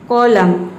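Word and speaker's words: column: जो है वह साइलेंट है, एन को हम प्रोनाउंस नहीं कर रहे हैं। कॉलम, कंडेम, डैम, हाइम, इन सभी में एम के बाद एन आया है तो एन जो है वह साइलेंट है।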